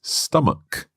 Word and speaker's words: stomach: But here, it's stomach, a hard k sound.